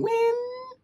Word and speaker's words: Ween: 1v1 against tricks streamer Jason win okay that's how you say his name um again I'm going